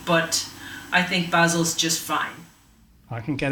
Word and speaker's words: Basel: The Swiss would say Basel with a longer A, but I think Basel's just fine.